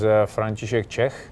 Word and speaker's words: František Čech: His name was František Čech. That's how you pronounce it in my language.